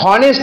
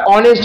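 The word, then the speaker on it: honest: তারপরে কি আছে অনেস্ট তার মানে হনেস্ট না বলে আমরা অনেস্ট বলি 19 নাম্বার অনারেবল 20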